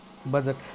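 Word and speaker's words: budget: चलिए आगे हम देखते हैं बजट।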